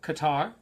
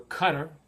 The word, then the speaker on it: Qatar: uh BN sport Channel 620 on Direct TV and then uh Qatar or Cutter it's pronounce it two different ways play France after that